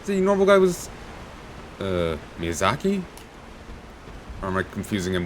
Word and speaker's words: Miyazaki: think I said the normal guy was uh Miyazaki or am I confusing him with a different